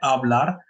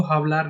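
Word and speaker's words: hablar: जैसे एक वर्ब है आबलार, इसको हावलार नहीं पढ़ेंगे, जैसे मैंने पहले भी मेंशन किया हुआ कि एच साइलेंट होता है स्पेनिश में।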